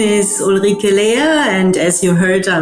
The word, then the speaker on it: Uli: get straight into the episode my name is Ola and as you heard I mean U was calling me that's much easier to pronounce for the International